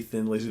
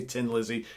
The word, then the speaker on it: Thin Lizzy: lot of Irish viewers who like you don't pronounce the name right 10 Lizzy Thin Lizzy the most of the world system Lizzy my own you say tin Lizzy because you don't pronounce HS that's totally fine